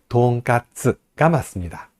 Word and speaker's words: 돈가스: 우리가 돈까스라고 부릅니다 돈가스 근데 돈가스가 아니고 뭐예요 돈가스가 맞습니다 돈가스 돈가스라고 발음을 합니다 돈가스가 아니고 쓰라고 발음해야 돼요 근데